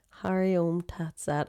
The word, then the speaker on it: Hari Om Tat Sat: Hari Om Tat Sat.